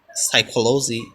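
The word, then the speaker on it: psychology: সাইকোলজি মনোবিদ্যা, সাইকোলজিক্যাল মানে হচ্ছে মনস্তাত্ত্বিক, সিরো মানে সদ্য, সাইকোট্রি মানে হচ্ছে মনসম্বন্ধীয়, সাইকো মানে মন।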